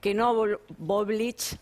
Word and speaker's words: Knoblauch: Sumamos a la charla, Mariano, te pido que te quedes, así participamos todos, al presidente de la DAIA, Jorge Knoblauch, así se pronuncia, parecido.